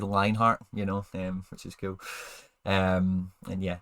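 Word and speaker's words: Lienhart: It's spelled like that, but it's said Lionheart, which is cool.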